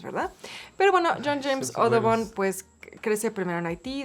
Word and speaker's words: Audubon: Bueno, entonces Audubon, de hecho, tiene una, seguramente lo estoy pronunciando mal, seguramente es Audubon, porque su padre era francés.